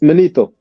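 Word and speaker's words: Manetho: And what happened is Matheno, that's how you say it, Matheno, or how you say it again? It's Manito.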